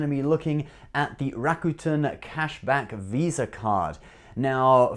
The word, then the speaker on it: Rakuten: i in the past people used to complain that i couldn't pronounce Rakuten properly I used to say Rakuten right and I went all the way to Japan specifically just to learn how to pronounce Rakuten and they taught me there how to pronounce it Rakuten I'm saying it in a bit of Japanese accent okay I won't do the accent but anyway it's Rakuten so please don't complain in